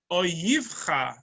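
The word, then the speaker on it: אֹיִבְךָ: It's written Aleph Vav Yud, Vet Yud, Chaf Sofit, but it's pronounced Oyivcha.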